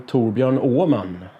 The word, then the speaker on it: Torbjörn Åhman: So my full name is then "Torbjörn Åhman". The "H" in the surname is silent.